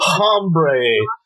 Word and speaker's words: Hombre: It's called Hombre. No, the H is silent. I got that. Hombre by Elmore Leonard.